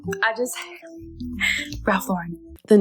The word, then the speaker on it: Ralph Lauren: Oh, and it's Ralph Lauren, not Ralph Lauren. He's American. I just Ralph Lauren.